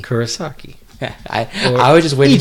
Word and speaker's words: Kurosaki: is that how you say it Rikuo sake Kurosaki Kurosaki I I was just waiting three continue home